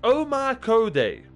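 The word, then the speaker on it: 大百足: Pronounced Omakode. Literally 100 legs in Japanese.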